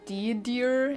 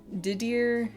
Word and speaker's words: Didier: Dear and gorgeous. No, but close. Didier and Georges.